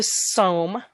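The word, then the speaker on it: Sawm: Number 4 is the Som. It's pronounced with the long O.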